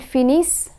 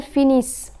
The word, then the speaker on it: finissent: And when the letter combination ENT is placed at the end of a verb, it is silent. The consonant that precedes the ENT ending is pronounced. Ils finissent, elles finissent.